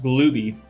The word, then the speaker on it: Glooby: went up yeah uh wish confirmed that it is pronounced glooby but yeah kill and tell is 11.